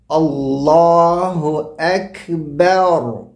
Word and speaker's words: اللہ اکبر: را کی وجہ سے با کو موٹا نہیں پڑھنا، بور نہیں، بیر بیر بیر. اللہ اکبر، یہ اس کا صحیح تلفظ ہے اللہ اکبر کا.